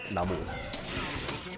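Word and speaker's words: 나무: Like in Korean, if you have just the word for tree, it's pronounced mo, which is like the Chinese version of the word namu.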